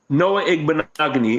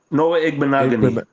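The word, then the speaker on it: Noah Igbinoghene: Noah Igbenogany. It rhymes with mahogany. So Noah Igbenogany.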